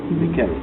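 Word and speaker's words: Mickel: And my spelling of my Michael is different because it's spelled Oh, yeah. like M-I-C-K-E-L, not the usual C-H-A-E-L. Mikel.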